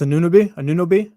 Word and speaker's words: Anunoby: It's Anunoby.